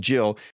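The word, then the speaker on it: gill: Um they would get a jill. It's actually spelled g i l l, but pronounced jill.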